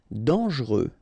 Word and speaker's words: dangereux: Dangereux. Final X not pronounced. And then don't really pronounce this E here. Okay, so you get dangereux.